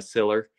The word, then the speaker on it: Siller: with you there will uh Siller which is how you say your last name I'll take the Bearcats